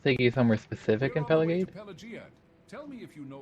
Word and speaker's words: Pelagiad: I don't think I like Pelagiad. It's how you're supposed to pronounce it.